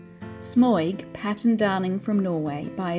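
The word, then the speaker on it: smøyg: pages of historical examples smug or as it should be more correctly pronounced smug is pattern darling Patton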